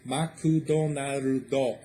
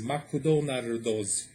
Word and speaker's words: マクドナルド: It always has like a vowel sound at the end, so McDonald's becomes Makudonardo. So McDonald's in Japanese is Makudonardos.